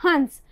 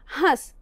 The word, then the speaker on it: हंस: और जब हम कहते हैं हंस, इसमें भी देखिए ह का उच्चारण करते समय उसमें जो लगा हुआ अ है उसका उच्चारण करते हुए थोड़ी नासिका से भी वायु निकल रही है और उच्चरित हो रहा है हंस।